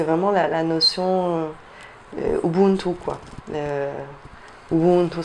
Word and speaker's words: Ubuntu: Ubuntu, ça, c'est comme ça qu'on le prononce en Kirundi, c'est la notion des gens, l'humanité.